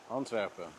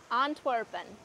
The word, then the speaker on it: Antwerpen: We are here in Antwerp, Belgium, which is, how do you pronounce it in Dutch? Antwerpen. Antwerpen.